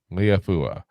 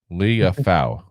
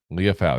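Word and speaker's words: Liufau: Marist Liafua. I'm gonna keep pronouncing his name wrong every single time. Liafau. Liafau. There we go.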